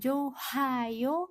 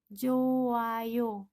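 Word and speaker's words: 좋아요: hiat bertemu dengan yang maka dibacanya bukan johayo bukan tapi dibaca menjadi joayo seperti seakan-akan hidupnya ini hilang ya seperti itu Joyo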